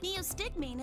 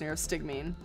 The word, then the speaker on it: neostigmine: told me about that neostigmine is a type of cholinesterase inhibitor well I've been saying it wrong it's near stig mean a cholinesterase inhibitor that